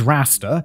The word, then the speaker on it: Rasta: hit his name was raster like Rastafarian oh that's a pronunciation guide